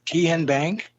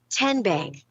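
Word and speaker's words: TN Bank: How do you say the name? Tian Bank? No. Tin Bank? So what is it? 10 Bank. 10, as in Tennessee, right here where all our banking decisions are made.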